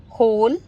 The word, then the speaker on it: whole: कहने का वही मतलब हो गया कि W दोनों ही केसेस में साइलेंट हुआ. Example: होल, rack, rap, wrist, wrinkle, wriggle, write, to, sort, answer, whom. Again: whole, right, rack, to, wrap, sword, wrist, answer, wrinkle, whom, wriggle.